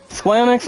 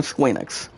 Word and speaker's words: Square Enix: sold off by squeenex there are still ways you guys can pronounce it square enix or squeenix now the thing about